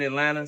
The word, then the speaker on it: Atlanta: People say Atlanta and Kentucky the same thing, but it's Atlanta.